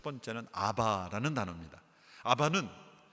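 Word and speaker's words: אבא: 첫 번째는 아바라는 단어입니다 아바는 아람어로 우리 말론 아빠입니다 발음이 비슷해요 아버지를 친근하게 부르는 단어가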